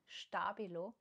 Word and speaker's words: Stabilo: Yes, I got those from a Japanese online shop, and this is a Stabilo, again German brand, and it's pronounced Stabilo, because they recently brought